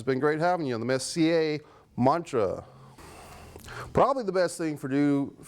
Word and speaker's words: Messier: pronounced my name uh Messier like you know French Mike Messier like the hockey player Mark Mark Messier if you don't mind just pronounce my name properly thank you Messier Messier there you have it